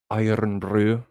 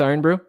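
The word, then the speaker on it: Irn-Bru: Roll your R's when you say brew. Iron brew. Iron brew.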